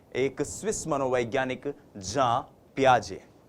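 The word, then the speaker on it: Jean Piaget: जी हां, हम इनको हिंदी भाषी लोग अक्सर जीन पियाजे जीन पियाजे कहते हैं। लेकिन यह जो जीन शब्द है जे इ एन जो ये स्पेलिंग है ये स्पेलिंग जो है इसका उच्चारण जब आप स्विस भाषा में करते हैं यूरोपियन कंट्रीज में करते हैं फॉरेन ऑथर्स को पढ़ते हैं तो वो होता है जा पियाजे। तो हम भी जा पियाजे बोलने की कोशिश करेंगे।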